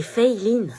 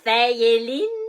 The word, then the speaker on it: Feyline: C'est Feyline. Feyeline? C'est Feyline. Bah, c'est écrit Feyelin. Oui, mais ça se prononce Fey, c'est américain en fait, et Line parce que c'est asiatique.